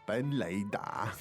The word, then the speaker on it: 本垒打: 本垒打. 3 third tones.